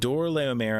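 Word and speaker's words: Chedorlaomer: real quick uh so chor leom and I think technically I should be pronouncing that with a k sound um is also named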